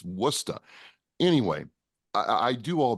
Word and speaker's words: Worcester: you know mistress I I first pronounced Worcester Worchester everybody does and you know I was like you freaking what are you saying it's wora anyway I I do